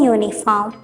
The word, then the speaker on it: uniform: The letter U in uniform sounds as Y-O-U.